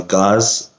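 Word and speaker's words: Gaz: And the suspension is made by Gauze. I believe that's how you say it. G-A-Z.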